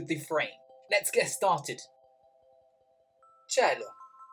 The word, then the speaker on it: cielo: Si dice cielo. Si scrive C-I-E-L-O.